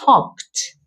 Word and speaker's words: talked: Escucha bien la pronunciación. Talked. Hcked. Hed. Mm. Tiene un sonido de una t al final, pero solo es el sonido, la pronunciación.